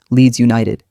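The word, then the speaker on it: Leeds United: For example, leads you no tid leads United leads is strong then two light beats for you na man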